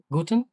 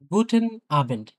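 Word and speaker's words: Guten Abend: তাহলে গুটেন আবেন্ড, এনটা উচ্চারণ হবে কিন্তু ভাই, হ্যাঁ, গুটেন, গুটে না কিন্তু, গুটেন, এই ক্ষেত্রে আর কি।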